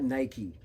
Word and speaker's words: Nike: Yeah, that's right, Nike, not Nike. It's pronounced Nike, guys.